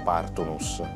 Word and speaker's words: Partunus: Veltur Partunus. L'accento andrebbe messo sempre sulla prima sillaba, quindi forse è meglio Partunus.